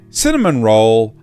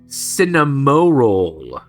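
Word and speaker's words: Cinnamoroll: collection featuring Kur a kuromi cinnamon roll and my melody sorry Cinema roll Cinema roll Cinema roll have I I thought everyone was just pronouncing it wrong this entire time it is oh my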